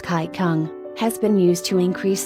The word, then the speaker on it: Qigong: An oriental method called Qigong, pronounced Kai Kung, has been used to increase circulation to the scalp and face also.